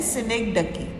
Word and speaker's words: synecdoche: के स्पेलिंग्स याद हो, बट इसका प्रोनाउंसिएशन है सिनेक्डकी. डकी. डक होता है ना, डकी, राइट? अब इसके स्पेलिंग्स नोट डाउन कर लो ध्यान से. SYNECDOCHE. जो CH है ना उसको क साउंड देने हैं.